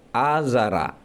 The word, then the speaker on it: Azara: ayat yang artinya, wahai Azar, pantaskah kamu menjadikan berhala-berhala itu sebagai Tuhan-Tuhan? Jumhur ulama membacanya dengan memfathahkan lafaz Azara.